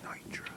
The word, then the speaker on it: Neutra: here come forward please pronunciation is Nitra Nitra I'm sorry okay very